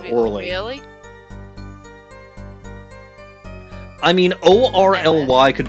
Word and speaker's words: Orly: It's spelled Orly. O-R-L-Y, Orley.